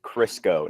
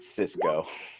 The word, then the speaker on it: Crisco: fur for him to a crisco not Cisco actually spelled like that some know any kind